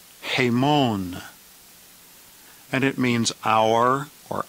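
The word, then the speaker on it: ἡμῶν: and it means we the plural genitive is pronounced a Mon hey Mon and it means hour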